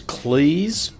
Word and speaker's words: Cleese: introduction John Cleese is Cleese as in rhymes with cheese he told me that